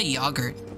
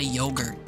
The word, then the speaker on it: yogurt: Well, that's because British people say yogurt like Yog's cast and Americans say yogurt like yo.